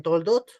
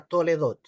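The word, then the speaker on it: תולדות: le traducen como generaciones algunos le pronuncian toldot otros le pronuncia toledot al final no a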